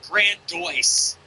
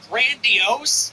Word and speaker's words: grandiose: She said grandice. She instead of saying grandiose, she said grandice.